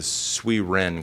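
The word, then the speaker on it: Sui Jen: it and opened it up as the it's pronounced the sui Ren Club um it's at the sweet Wren Club was a kind of a Japanese type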